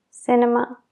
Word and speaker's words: cinema: Cuando viene antes de una E, I o Y, se pronuncia como una S.